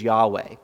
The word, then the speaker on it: Yahweh: Old Testament a lot sometimes we refer to it as Yahweh that's probably a more faithful way to pronounce the Hebrew but over the years